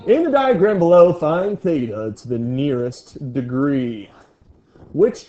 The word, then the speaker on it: theta: Theta. With a th.